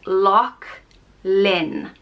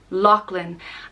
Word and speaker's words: Lachlan: land of the lakes it's pronounced loch lin lachlan and it is spelled